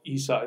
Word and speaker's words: Isa: We do stupid things with vowels in English, and I is not how Isa is pronounced. It's pronounced E.